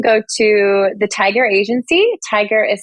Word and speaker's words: Tigar: to the tiger agency tiger is spelled with an A but pronounced like the animal so t i g